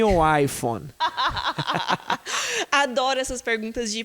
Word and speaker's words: iPhone: É I e phone. Então, as duas são stress syllables, são sílabas tônicas. Então, eu vou falar iPhone. As duas são fortes, porque é uma palavra composta.